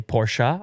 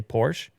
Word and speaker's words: Porsche: Anyhow, from this moment forward in this video, I will no longer say Porsche. I will say Porsche, because that's the way. That's just one syllable, so you save a syllable.